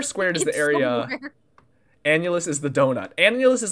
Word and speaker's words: annulus: two-dimensional shape though we we would call an annulus okay annually can you spell that in the chat a-n-n-u-l-u-s P it's a